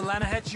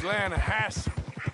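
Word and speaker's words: Lannahechee: rolled down to the Lana Hetchy River I caught some beautiful steelhead trout the Lana no Lana hatch it runs right near here yeah it's pronounced Lana Hass why is everything in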